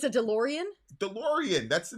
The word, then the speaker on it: DeLorean: holy it's a DeLorean DeLorean not a DeLorean oh that's close enough